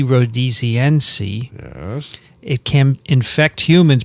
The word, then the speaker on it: rhodesiense: Rhodesiense. Named after Rhodesia.